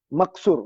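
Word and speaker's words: مقصور: Bukan maksus pun suri. Pronunciasi dia. Maksur. Bukan maksus Maksur. Maksur dengan mangkus.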